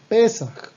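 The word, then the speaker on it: פסח: La palabra Pesaj en hebreo se traduce en español como Pascua y se escribe de la siguiente manera: Pesaj, así, Pei Samech Het, Pei Samech Het, Pesaj, ¿ok?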